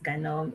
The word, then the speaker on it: GNOME: So for the ones that go for the GNOME, it's actually pronounced GNOME.